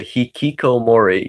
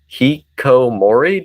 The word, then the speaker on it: hikikomori: He literally said hikikomori. Yeah, no, I know. It's a he doesn't pronounce it correctly.